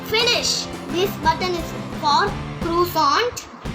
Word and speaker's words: croissant: This button is for croissant